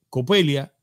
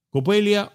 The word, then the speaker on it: Coppelia: La idea del nombre, señores, es muy bonita porque Copelia, ya yo vi que alguien estuvo comentando y